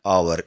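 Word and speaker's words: hour: एन आवर आवर में भी H silent है। आवाज आती है आवर। इसीलिए एन आवर द बहुत इजी हिंदी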